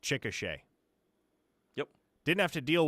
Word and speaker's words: Chickasha: Yeah, well, for instance, like, if you don't know any better, you would not guess that Chickasha is pronounced Chickasha.